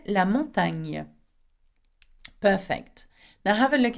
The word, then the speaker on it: montagne: Do not pronounce gonna, okay? It does not exist in French. Instead, you say ni and whatever vowel comes afterwards. Okay, have a look at this word. La montagne.